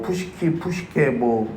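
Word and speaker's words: ψυχή: 헬라어를 사용합니다 여기서는요이 푸시키라는 단어를 쓰는데요 부식해 뭐 푸시키고 그렇게 발음하는데 이게 뭐냐면요 영혼이라는 뜻입니다 영혼 그러니까 이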